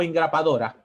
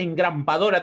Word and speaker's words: engrapadora: No, y no se dice engrampadora tampoco, ¿no? Es de grapas. No es engrampadora, es engrapadora, femenino.